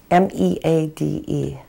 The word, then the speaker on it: Meade: And how does that name, is that, you spell that name again? M-E-A-D-E.